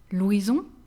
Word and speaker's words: Louison: Mixed name, we have here two different pronunciations. We have Louison, Louison, which is mostly masculine, but some girls are called Louison as well.